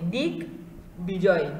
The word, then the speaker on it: দিগ্বিজয়: এখানে বলা হয়েছে যে যেহেতু সন্ধিজাত শব্দ দিগ্যোগ বিজয়, দিগ্বিজয় বলা হচ্ছে ব সংযুক্ত থাকলে এই বয়ের একটা উচ্চারণ আমরা উচ্চারণের মধ্যে নিয়ে আসব, ব ফলার উচ্চারণটা স্পষ্ট হবে, দিক বিজয়, দিক বিজয়, ঠিক আছে?